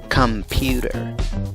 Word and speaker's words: computer: Aunque la escritura es con una O, no empiezas con la pronunciación de una O en la primera sílaba, sino dices come, come, pewter, computer.